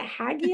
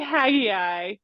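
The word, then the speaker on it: Haggai: different ways is it hagi hagi I Jen how do you say it Emily how do you say I say hag ey I say hag ey as well however I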